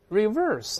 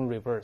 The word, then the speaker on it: reverse: 还有像我们说 reverse，这几个注意啊，无论形容词、动词还名词都是一个反应，都读 reverse。我们再读一